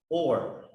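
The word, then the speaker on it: אור: The light pronounced or.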